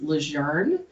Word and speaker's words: LeJeune: um where i'm from it's actually pronounced lejeune and i gave up that fight around like fifth grade because there's no r in it so constantly like correcting